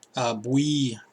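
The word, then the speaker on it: Bouye: Bowie, how do you say his name? Boue.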